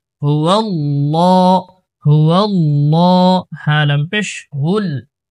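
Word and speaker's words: هُوَ اللَّهُ: João, লাম খারা জবর লা, হুয়াল্লাহ, এটা আল্লাহ শব্দের লাম মোটা করে উচ্চারণ করতে হয়। হুয়াল্লাহ, হুয়াল্লাহ, হ্যাঁ লাম পেশ হুল, পরে যে লামটা আছে এটা কিন্তু আবার পাতলা করে পড়তে হবে।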